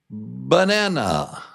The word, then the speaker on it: banana: Banana, banana, banana. 1, 2, 3. Banana, 3 syllables. And then, of course, the strong syllable, na, number 2.